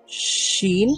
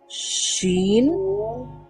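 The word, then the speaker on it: شين: এই মধ্যভাগটাই লাগবে না এই মধ্যভাগের সাইডের অংশগুলো লাগবে উচ্চারণ করার সময় তো এখান থেকে কি উচ্চারিত হয় জিম জিম শিন আমাদের কোনগুলো লাগছে এই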